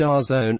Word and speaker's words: DAZN: and based in the UK da Zed and pronounced our zone is again to Netflix in the did say